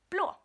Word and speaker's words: blå: Blå has the O in it, which is the A with the 1 dot on it, which I know, Amanda, you have had some trouble with. You don't know how to pronounce it. It's O.